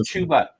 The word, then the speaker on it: Chuba: Chubba Hubbard of the Panthers against. Listen. Really? Listen. His real name is Chuba.